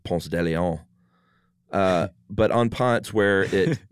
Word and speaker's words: Ponce de Leon: And, you know, at Ponce de Leon Avenue here in Atlanta, everyone that doesn't live in Atlanta probably laughs that we pronounce it that way instead of Ponce de Leon.